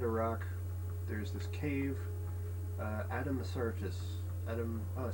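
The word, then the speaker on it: Addamasartus: Adam Sartis.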